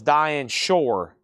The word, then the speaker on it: Shore: And that was Diane Shore. Sure. Rhymes with poor.